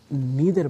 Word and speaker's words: neither: आप जैसा पढ़ेंगे, तो अगर आप नाइदर पढ़ेंगे तो इट मीन्स कि आप ब्रिटिश प्रोनाउंसिएशन को फॉलो कर रहे हैं, और अगर आप नीदर पढ़ेंगे तो इससे ये